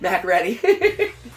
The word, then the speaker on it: MacReady: MacReady. It's definitely pronounced MacReady. It's pronounced MacReady, but it looks like MacReady.